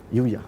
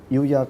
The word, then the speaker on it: UYA: Yuya. Okay, can you tell us more about it? Right. Actually, Yuya comes from these two Chinese characters.